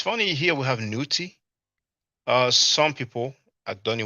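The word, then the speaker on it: niwt: funny here we have newty uh some people at Donnie Williams probably familiar with the Newt glyph because in reference at 049 so I pronounce it newt I believe God and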